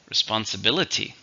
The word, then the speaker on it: responsibility: account that's a noun how many syllables do you hear responsibility six stress on the fourth responsibility it is a